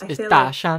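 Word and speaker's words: Dashan: To go back to the Daoshan, is that his name? It's Daoshan. Like, it's like big mountain.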